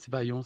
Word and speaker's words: Aïon: peux nous dire, Ayon, d'où vient ton nom? Ah, Ayon. c'est une magnifique. Déjà, tu le prononces bien, donc merci. C'est pas Ayon. Des gens disent Ayon, non, c'est pas Ayon, c'est Ayon.